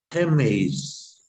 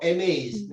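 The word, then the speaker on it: ἡμεῖς: Geméis. Muy bien, geméis, no eméis, porque lleva el áspero, ¿eh?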